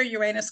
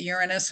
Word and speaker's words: Uranus: And so it's going to enlarge all things that Uranus, and I pronounce it Uranus, and it's like the unpredictable planet. Who knows how I'm going to pronounce it next?